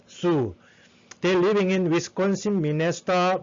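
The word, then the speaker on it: Sioux: in the great plain is zeus zhu uh it is it has to pronounce it but sue they're living in wisconsin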